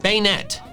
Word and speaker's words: Banette: It even only has one consonant, so it follows the long vowel rule. I don't know how I ended up so wrong with this one, but going forward, I will try to correct my incorrect status and pronounce it bayonet.